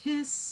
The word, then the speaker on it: His: I know it's only one S, it's pronounced His.